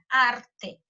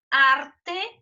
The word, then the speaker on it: arte: Se a gente for analisar, né, arte é um termo que tem duas sílabas. A sílaba tônica é justamente esse ar.